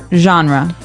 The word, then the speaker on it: genre: We say genre. Genre. Word genre. This kind of sounds French. Is it French? I think it comes from French. Uh, it's a ge word. So, genre. It's a soft soft sound.